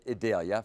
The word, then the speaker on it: Idalia: That's what we're told to pronounce it. Idalia.